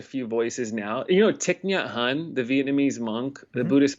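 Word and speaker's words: Thich Nhat Hanh: little like not tick not hum but like tick n hun because my wife's family is vietnamese so my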